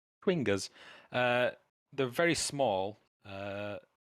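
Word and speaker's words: chwinga: enough uh these are swingers spelled really funny c-h-w-i-n-g-a yeah i had a really hard time pronouncing it as well to be fair quingas uh they're very small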